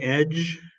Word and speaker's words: edge: um and the word Edge it's not a D sound it's a j sound so there's no plosive